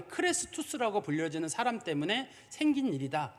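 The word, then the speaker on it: Chrestus: 뭐라고 기록을 했냐면 정확한 발음이 크레스투스라고 불려지는 사람 때문에 생긴 일이다 이렇게 돼 있어요.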